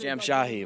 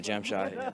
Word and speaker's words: Jamshahi: Pronounced Jamshahi, by the way, Jamshahi. Jamshahi? Yeah, Jamshahi.